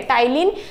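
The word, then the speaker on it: Ptyalin: दूसरा नाम क्या है टाइलिन भी है टाइलिन पीस में साइलेंट होता है ठीक है सलाइवेरी अ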